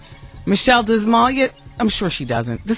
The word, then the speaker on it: Malia: Joaquin Malia. Right? Joaquin Malia. Texter says, Wendy, it's time you learn to pronounce Malia. You're embarrassing us. That's from Tara. I don't want to do that. I don't mean any disrespect. So, Joaquin Malia. Joaquin Phoenix Malia Obama.